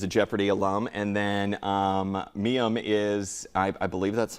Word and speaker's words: Mayim: And then Mayim is, I believe that's how you say it?